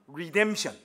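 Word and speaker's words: redemption: 말하고 송이라고 말해요 영어로는 리션 자 여러분들 언제 우리이 단어를 한번 발음해 보겠습니다 자 입모양 똑바로하고 맨 앞에 R 사운드 알죠 리션 이거 아닙니다 리션 자 브리디 자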